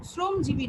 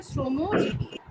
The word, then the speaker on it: শ্রমজীবী: হ্যাঁ, ঠিক আছে, শ্রমজীবী নয়, উচ্চারণ হচ্ছে শ্রমজীবী।